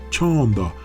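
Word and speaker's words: चंदा: Se pronuncia chanda, y por eso la gente pone una candle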